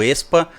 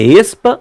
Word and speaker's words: aespa: Se você não leu A, você fala Expa. Não leu lá, é esse mesmo. Não é como se escreve, você pega do E, Expa.